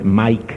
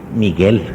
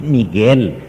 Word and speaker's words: Miguel: Miguel recordemos muy bien para que podamos pronunciarlo no con el el anglicismo que hay veces verdad Mike le decimos Mike cuál Mike Miguel es Miguel Quién como dios es